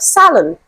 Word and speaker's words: salon: option D we have Salon okay so based on my pronunciation you can tell that this is the final answer to this question because the stress is on the first syllable Salon okay so I